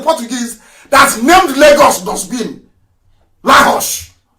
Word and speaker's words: Lagos: Lahos. Lahos, that's the correct pronunciation.